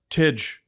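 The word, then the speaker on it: Tij: Teej Iginla. Teej. That's not Tig? No. What is it? Well, Teej.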